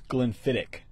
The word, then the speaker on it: Glenfiddich: he's really good at so Colin says CHS pronounced so it's Glenfiddich there you go that makes sense that makes